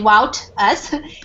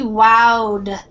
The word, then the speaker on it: wowed: and he wowed us so this ed ending is more like a d sound instead of the t you don't say wow us he wowed us it means he impressed